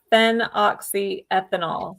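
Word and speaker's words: phenoxyethanol: And I'll I'll spell it too. So it's it's fen oxy ethanol.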